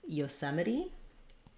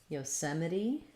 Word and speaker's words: Yosemite: about how to pronounce yosemite yosemite so this is the national one of the national parks in the u.s um yosemite has second syllable stress we have our o